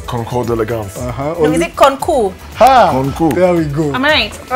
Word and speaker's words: Concours d'Elegance: Let's start with how do you pronounce it, Okari? It's Concours d'Elegance.